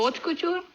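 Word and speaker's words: haute couture: А первое слово, як воно читається? Откутюр. Ти ж чула слово откутюр. Откую не ход H не читаємо.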